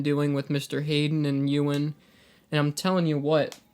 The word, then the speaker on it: Ewan: Hayden and Ewan, and I'm telling you what, this year is crazy.